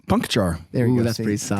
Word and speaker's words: Puncochar: Puncochar.